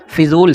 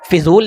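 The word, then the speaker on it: फ़िज़ूल: सा और जा को मिला दिया जाता है, जा पढ़ा जाता है, ठीक। फिजूल नहीं होता है, ठीक है, फजूल होता है।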